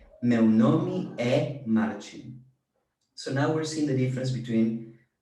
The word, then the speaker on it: é: The accented E means is, like my name is Marcin. And the pronunciation is very different. This is open E. Meu nome é Marcin.